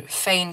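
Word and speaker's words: Faynn: I think that's how you say her name on Instagram. F-A-Y-N-N. She saw it from someone else and that was the original. But then Fain kind of made it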